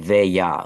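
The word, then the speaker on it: veglia: that like oh like veya like v h y a a kind of veya like that it's it's it's the G the G L is sort of pronounced like a yah so it's veya veya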